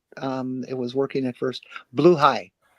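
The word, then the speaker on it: Blåhaj: Blue high. Blaha is blue high. It's Swedish.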